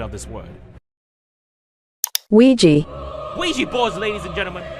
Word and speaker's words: Ouija: It may seem unrelated, but I've asked a data analytics expert to give us the proper pronunciation of this word. Ouija.